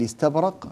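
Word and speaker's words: إستبرق: نافع من طريق الازرق واذا اردنا ان ننطقها على ما ينطق ورش نقول ان استبرق في روايه ورش عن نافع من طريق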